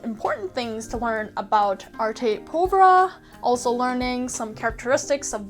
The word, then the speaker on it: Arte Povera: It's spelled A-R-T-E, and I thought it was Arte Povera, but it's actually Arte Povera.